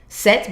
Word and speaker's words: cette: Set, but C-E-T-T-E.